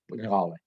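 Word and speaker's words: Ngöbe: Toda la gente que habla español pronuncia así, con la nasal velar con la vocal esa, la O abierta.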